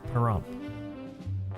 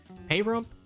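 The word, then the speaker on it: Pahrump: Perump. Perump. I keep hearing people pronounce it payump.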